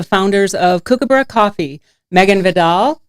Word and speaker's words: Vidal: Today I have in studio the founders of Kookaburra Coffee, Megan Vidal, who pronounces her name like Vidal Sassoon, and Spencer Hooker.